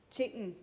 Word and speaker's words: Chayton: Chayton. Chayton. Like Satan.